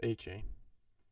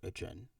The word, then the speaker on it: Etienne: Travis A-Chain. Oh yeah, you're right. Sorry, Travis Etienne. You're right. I forgot his brother was or like. A-Chan. It's not pronounced that way. It's pronounced Etienne.